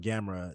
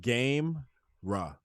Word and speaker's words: Gamera: So there's this thing called Gamera. It's like Gamera. It's like game ra, but it's Okay. pronounced Gamera.